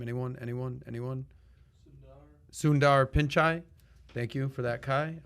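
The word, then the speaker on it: Sundar Pichai: do we say his name anyone anyone anyone sundar pinchai thank you for that kai uh our 22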